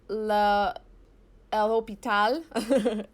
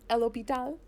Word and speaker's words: L'Hôpital: So it's pronounced El Hôpital. El Hôpital. I believe it's French.